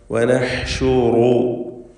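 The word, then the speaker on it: نحشر: വനഹ്ശുറു, ഹ തൊണ്ടയുടെ മധ്യമാണ് മഖ്റജ് എന്നത് അറിഞ്ഞുകൊണ്ട് വ്യക്തമായി ഹ ഉച്ചരിക്കുക. റായിനും തഫ്ഖീം, റായിന് തഫ്ഖീം കൊടുക്കണം. നൂനിനും ഹാനും ഷീനും എല്ലാം തർഖീഖാണ്. വനഹ്ശുറു വനഹ്ശുറുൽ മുജ്രിമീൻ, ജീബിൻ്റെ സുക്കൂൻ ഖൽഖല സുഗ്റ നൽകി ഹറക്കത്ത് പോലെ ശബ്ദം ചലിപ്പിച്ച് വ്യക്തമാക്കണം.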